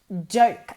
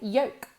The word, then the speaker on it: joke: I know a lot of students that say yolk. Yolk es yema de huevo, so that has nothing to do with it, okay? In this case, broma o chiste is joke.